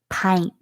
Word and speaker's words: pint: We underline the I because we hear the I say its name here.